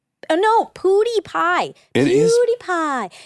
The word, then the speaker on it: PewDiePie: PoodiePie.